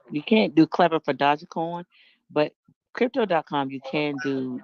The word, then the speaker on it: Dogecoin: Dogecoin.